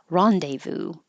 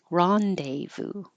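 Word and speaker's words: rendezvous: can say no or ni neonic and Americans pronounce this French word as Rondevu Rondevu and finally we have Odo rhinol Len colist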